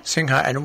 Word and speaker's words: Sinha: How did you pronounce that last name? Manisha Sinha. Sinha.